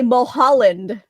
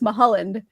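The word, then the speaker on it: Mulholland: He was the waters are of Thank you for saying it right. How else do people say it? They say Mhalland, which is weird because it's Mahaland.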